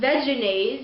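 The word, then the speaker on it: Vegenaise: No one really used it, so it was originally pronounced veganaise, as in vegetarian mayonnaise, but now veganism is so popular and common that vegans look at it and they think, oh, it looks kind of like vegan, and they say veganaise, and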